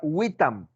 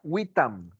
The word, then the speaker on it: vitam: En ese tiempo se pronunciaban como una W, como la palabra vitam en latín. En latín la gente decía vitam a la palabra que se escribe W-I-T-A-M.